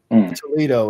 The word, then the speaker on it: Toledo: Toledo, it rhymes with Frito.